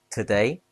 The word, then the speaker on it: today: Today has two syllables stress on day.